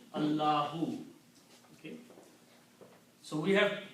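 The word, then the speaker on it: الله: And this word is pronounced as Allahu.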